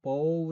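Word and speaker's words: baud: 보온을 웨이트 락으로 이야기입니다 실제로는 보우 라고 있는데요 어 영어식 발음으로 뽀뽀 우드가 되겠죠 그래서 보어 드 레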